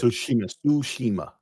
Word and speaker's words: Tsushima: that was it sushima tsushima and that was it and bes like and then ninja guid the the t is silent right and